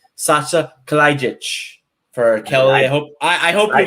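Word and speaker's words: Saša Kalajdžić: And I'm going to name Sasha Kalajic for Kelly.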